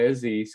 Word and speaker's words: Aziz: but i go by aziz because you know these americans can't pronounce anything for their life so it's fuzzy's like dizzy's but with an a or like you know aziz i'm sorry i don't